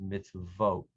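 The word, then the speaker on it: מִצְווֹת: more ham many hebrew nouns become pluralized with an eem sound at the end the other plural ending is oat so for example the word torah when pluralizes to wrote the word mitzvah when pluralizes misvote so usually if a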